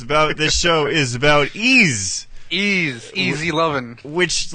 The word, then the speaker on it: Ys: the you spell it's it's pronounced ease but it's spelled y-s yeah you know the first thing you come to mind when you see that you're like yes yes yes yes yes